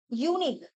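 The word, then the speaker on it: unique: this is ভাল letter but এর উচ্চারণটা কিন্তু কিভাবে হচ্ছে ইউ এর মত করে হচ্ছে অর্থাৎ এটা কিন্তু consonant sound sounding like কনসন্ট right কনসন্ট sound যখন কনসোন্ট সাউন্ড হয়ে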